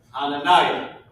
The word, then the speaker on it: Hananiah: It's pronounced Hananiah.